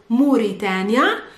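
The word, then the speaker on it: موريتانيا: I think you've been pronouncing it well because it's Mauritania or Mauritania, but in Arabic it's Mauritania.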